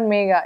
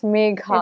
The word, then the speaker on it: Megha: Actually, yeah, it's not Megha, it's Megha. It's either Megha, Megha. I mean, nobody says Megha actually.